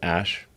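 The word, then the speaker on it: Æ: x um and then the a e is like pronounced ash yeah and then uh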